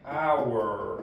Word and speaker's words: hour: An egg, an hour, aqui ó, como nesse caso, tá vendo? O H a gente não fala, a gente finge como se ele não existisse, então a gente fala an hour, é o chamado H não aspirado.